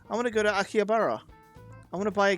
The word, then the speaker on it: Akihabara: I want to go to Akihabara.